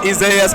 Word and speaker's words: Isaias: He said, well, it's Isaias, but I go by Isaiah, but you can say Isaias.